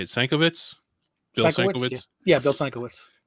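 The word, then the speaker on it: Sienkiewicz: Sankiewicz?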